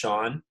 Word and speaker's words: Shaan: So it's just pronounced Shaan, but it's spelled Shaan.